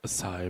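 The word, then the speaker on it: açaí: as I was I was like oh it's a chi berry and they're like acai berry I'm like why are we saying boo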